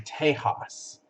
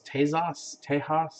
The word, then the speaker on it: Tejas: In Spanish, the X is pronounced like a J. or an H really. So it's technically Tejas. So um, so kind of close. Tejas, close.